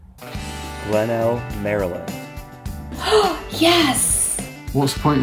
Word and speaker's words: Glenelg: Not Glenelg. I feel like the G is silent. Let's go with Glenelg. Glenelg, Maryland.